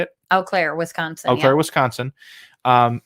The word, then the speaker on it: Eau Claire: Eau Claire, Wisconsin.